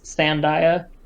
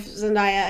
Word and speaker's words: Zendaya: before watching it and during watching it, was Zendaya.